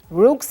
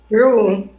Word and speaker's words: Roux: pursue her natural talent and she created, you pronounce it for me, Shonda, Rook's art? Rue.